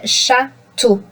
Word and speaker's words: château: So when you speak about château, d'accord?